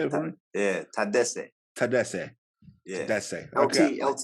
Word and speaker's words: Tadesse: Yeah, Tedesse. Tedesse. Yeah. Tedesse. Okay. LT is good. LT is pretty LT is good. Yeah, but the quick way. I like to Tedesse.